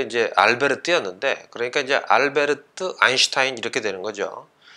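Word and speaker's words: Albert: 알베르 뛰었는데 그러니까 이제 알베르트 아인슈타인 이렇게 되는 거죠 간혹 이제 알버트 아인슈타인 뭐 이렇게 부르는 사람도 있는데 알버트는 이제 미국식 발음이죠 그러니까 이제 미국식은 근데 그렇게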